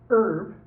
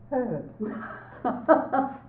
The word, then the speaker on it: herb: Now, is it an Herb. or is it a Herb. Both are correct. The French tend not to pronounce the H because they use the old French word herb, but the English-speaking countries do.